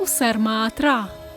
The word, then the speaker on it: Усер Маат Ра: Але це також ребус, у якому зашифроване його тронне ім'я. Зліва – Усер – могутність, справа – фігура богині Маат. Разом це читається як Усер Маат-Ра.